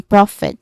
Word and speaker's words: profit: Of course, Rafet pronunciation wise, we have the stressed part is on still on the first syllable. So all the words on this set, the primary stress is on the first syllable just like in profit. So the um main stressed is on prof there's two distinct sounds only prof and it.